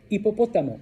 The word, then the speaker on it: hipopótamo: Hipopótamo, hipopótamo, hipopótamo, hipopótamo.